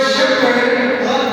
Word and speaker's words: shepherd: okay so when you tell the word shepherd s h e h e V. So, but when you pronounce it, something in that word or in the study is pronounced silent.